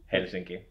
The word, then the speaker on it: Helsinki: How do you say that in Finnish? Helsinki. Yeah, Helsinki. Pretty much the same.